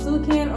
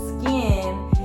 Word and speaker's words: Sukin: I don't I don't even know what it's I think it's either called Sukan or it's called skin and the U is silent.